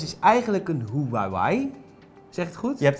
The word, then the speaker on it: Huawei: Ja en de Honor 6 is eigenlijk een Huawei zeg het goed Je hebt het perfect uitgesproken een Huawei Ja en eh een hele goede vriend van